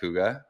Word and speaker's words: Kouga: guess um today we are talking with h coua um is that how you pronounce it by the way yes perfect yes